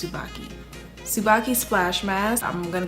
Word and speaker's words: Tsubaki: Tsubaki. It has a T in the front, but I think it's Tsubaki.